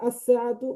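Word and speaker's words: السَّاعَةُ: আলিফ লাম যুক্ত হলে লাম হরফটি উচ্চারিত হয় না, বরং লামের পরবর্তী হরফটি তাসদিদ যুক্ত রূপে উচ্চারিত হয়।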